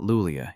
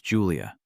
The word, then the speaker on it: Julia: It's not Lulia, it's Julia, and I didn't mistake you for someone else.